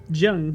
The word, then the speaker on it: Zheng: Zheng. Yeah. Good pronounce.